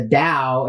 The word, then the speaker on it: Tao: thing that right that t-a-o or the Dao as it's pronounced in China is the essence of